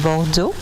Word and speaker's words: Bordeaux: Uh Jin Bosia I was born in France in Bordeaux. Uh it's southwest of France. Let's try to pronounce that pomoda. Bordo bordo.